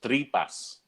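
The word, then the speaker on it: tripa: known to you cooked tripe Alegre yeah exact pronounced three bus TR EE PA yes is how you'd say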